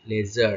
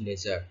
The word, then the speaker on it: laser: পেয়েছি এটাকে একসঙ্গে বলছি, আমরা একসঙ্গে উচ্চারণ করছি লেজার, আমরা LASER বলছি না, আমরা বলছি লেজার, ঠিক আছে?